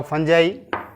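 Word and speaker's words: fungi: अब बैक्टीरिया के बाद देन आता है आपका फंजाई। इसके लोग, बहुत सारे लोग इसका प्रोनाउंसिएशन फंगी भी कहते हैं, फंजाई भी है, जिसको हम फफूद कहते हैं।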